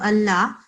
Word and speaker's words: الله: So when we pronounce that, we have to make sure whenever the letter preceding the Lam Mushaddad of Allah, if it is a dhamma like that, or if